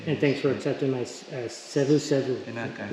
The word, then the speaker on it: Savusavu: And thanks for accepting my Savusavu. Is that how you say it, right? Yes.